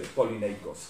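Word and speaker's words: Polynices: I pronounce it usually the Greek way, polyneikos.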